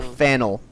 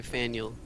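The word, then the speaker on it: Faneuil: see explosion said uh it rhymes with Daniel so you could say Fel like Fel okay Fel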